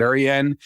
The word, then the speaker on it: Rensselaer: That's how I'm going to pronounce it, Rensselaer.